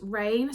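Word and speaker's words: Reign: The next name on our baby boys list was Rain, so it's spelled R-E-I-G-N.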